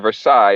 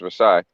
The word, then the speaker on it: Versailles: Yeah, so that Treaty of Versailles, it's actually pronounced Versailles.